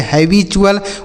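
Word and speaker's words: habitual: एल है तो उसे चुल पढ़ते हैं जैसे हैबचुअल वर्चुअल म्यूचुअल फ़क्चुअल पंक्चुअल और एस यू आर ई रहे तो उसे जर पढ़ते हैं।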